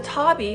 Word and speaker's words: tabi: 15th century Japan the Tabby as it's pronounced in Japanese was a type of